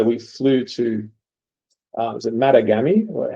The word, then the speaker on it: Matagami: So we flew to is it Matagami? How do you pronounce it? Matagami, and then onto the project.